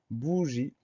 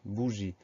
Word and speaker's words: bougie: Et on termine avec un E muet qu'on n'entend pas, mais celui-là, on y pense parce que c'est rare que les mots se terminent par un i tout seul. Donc, bougie, première syllabe B-O-U, deuxième syllabe G-I-E.